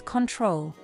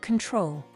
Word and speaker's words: control: The letter O may also be reduced. For example, the first O letter is reduced in the first syllable of the word control. So it is not pronounced as control, but control.